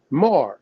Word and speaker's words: Mar: through the date Aramaic word is pronounced Mar so I like to say Mar like Maroon because I'm a maroon yeah